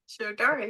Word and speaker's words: Shirodhara: talk about sharar if I'm saying it right sharar yeah two for two yes a a a